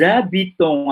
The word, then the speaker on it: habitons: Petite correction, Agnès, Maria, on ne dit pas nous habitons parce que les Français, ils ne prononcent pas le H, hein? C'est muet. Donc, nous habitons à Paris depuis 5 ans.